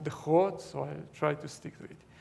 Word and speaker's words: DeGroot: in the netherlands and i learned that it should be pronounced the hot so i'll try to